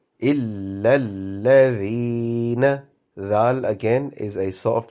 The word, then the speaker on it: إِلَّا الَّذِينَ: So instead of reading إِلَّا الَّذِينَ, if you pronounce this إِلَّا الَّذِي, because there are two alphabets with shadda, so give the correct emphasis for shadda. إِلَّا الَّذِينَ.